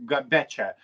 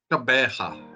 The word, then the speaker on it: Gqeberha: I mean, name is changed, and I'm not going to pronounce because in Lithuanian we're saying Gqeberha, but Gqeberha. Yeah, Gqeberha.